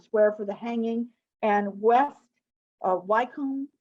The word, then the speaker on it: West Wycombe: for the hanging, and West Wycombe, is that how you say it? Estate? It's West Wickham.